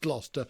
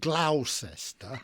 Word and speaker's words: Gloucester: those of you in the USA, it is pronounced Gloucester and not Gloucester.